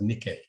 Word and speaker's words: Nike: call it the Nike sign which should be pronounced Nikki so switching from Greek to geology um it's